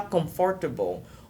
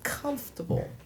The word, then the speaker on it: comfortable: Par exemple, comfortable, c'est pas comfortable ou comfortable. Non, c'est comfortable.